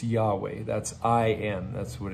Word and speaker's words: Yahweh: Hebrew it's Yahweh and there's some disagreement about how that's pronounced but it it's Yahweh that's I and that's